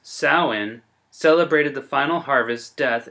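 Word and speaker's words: Samhain: this pagan holiday the pagan festival pronounced saawan celebrated the final harvest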